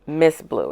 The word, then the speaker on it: MS Blue: Although it's spelled MS Blue. It's pronounced Miss Blue. And when you go to their website, it's very much focused on water conservation and the environment. Miss Blue, one of the things